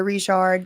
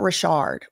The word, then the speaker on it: Richard: because my mom is grandpa's a Rishard. So, um that's how we say it. It's not Rashard, but I don't know how she says it. However she says it, y'all can say it like that, but until I hear her saying it with my own ears, I'mma probably say Rishard.